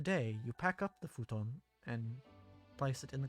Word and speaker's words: futon: listening to the pronunciation in the game futon is the um correct pronunciation but in english we would know it as futon which is not the same thing this is a set